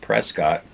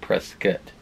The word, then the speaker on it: Prescott: posted the video yet, Prescott. It's not Prescott. I guess it's pronounced Prescott. There's no damn U in the name.